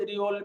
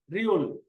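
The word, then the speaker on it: 리을: আমি আবারও বলতেছি, যেমন গিয়ক, নিয়ন, দিগুত, রিওল, মিয়ম, বিয়প, সিয়ত, ইয়ং, জিয়ত, চিয়ত, খিয়ক, থিয়ত, হিয়ত, ফিয়ক, ফিয়ক, হিয়ত।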